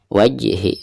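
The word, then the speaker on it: وجهِ: Wajhi jim sukun dan posisinya ada di tengah bacaan, maka dihukumi qalqalah sugro ya. Dan cara membacanya harus dipantulkan dengan suara pantulan yang tipis. Wajhi, seperti itu.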